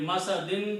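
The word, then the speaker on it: مسد: Masadin will become masad.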